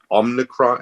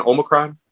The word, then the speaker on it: Omicron: south africa when uh omnicron how do you say it again omicron omicron yeah sort of it transforms